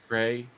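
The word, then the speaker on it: Wray: trump's appointees so again do you pronounce the w no gray right no nothing will fundamentally change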